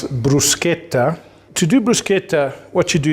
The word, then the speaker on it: bruschetta: going to do is teach you how to pronounce Bruce katha to duplicate what you do is toast bread